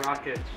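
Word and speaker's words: Rakić: Rakic.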